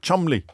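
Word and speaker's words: Cholmondeley: completely absurd ways often their own names like Chumley which is pronounced CH mondle or beum BP which is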